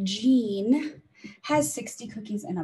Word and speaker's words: Jean: so in his box jean that's a soft g and a long e gene has 60 cookies in